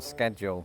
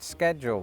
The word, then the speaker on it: schedule: or should I say right on schedule because I, like quite a lot of British people, have always pronounced that word schedule with a C.